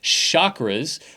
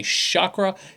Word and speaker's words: chakra: can then say that if someone's saying the chakras which is the incorrect way to pronounce it in Sanskrit is the modern version of the seven chakra rainbow system yeah so when I say Shakra it is a seven colored rainbow system yeah so hopefully that